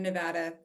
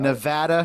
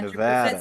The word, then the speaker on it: Nevada: Yeah, SPCA of Northern Nevada would love your donation. I appreciate that. Absolutely. Got it. Nevada, not Nevada, Yeah, correct? 100%. Nevada.